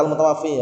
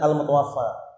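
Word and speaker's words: المتوفى: bawahnya ada tulisan al-mutawaffa, itu jangan dibaca al-mutawaffi ya. Karena al-mutawaffi itu yang mematikan, berarti Allah SWT. Tapi bacanya al-mutawaffa, yang diwafatkan berarti orangnya gitu loh ya.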